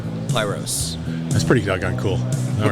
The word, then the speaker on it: Pyros: Pyros.